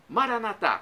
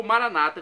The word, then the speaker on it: Maranatá: E do aramaico eu clamo, Maranatá, como dizemos nós católicos, ou Maranata, como dizem nossos irmãos separados, os evangélicos ou protestantes.